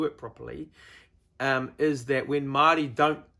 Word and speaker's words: Māori: properly is that when Māori don't say things properly, they don't pronounce things properly. So things like Māori who say Maori, because the Maori down the road.